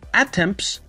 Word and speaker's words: attempt: نفر یا یک کسی، attempts، attempt دوستان میدونید به معنی تلاش کردن است، attempt تی تقریبا تلفظ نمیشه، تی که در پایان هست تلفظ نمیشه، attempts to do something،